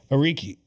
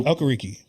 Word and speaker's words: Okereke: I think Dexter Lawrence would be there, and also I like Bobby Ariki. Yeah. Or Okereke. I'm sorry, Okereke. I didn't know how you pronounce that.